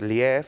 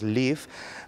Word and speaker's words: lief: del sur de áfrica del afrikaans y significa amor a la pronuncia no es ley tal cual es live pero bueno yo lo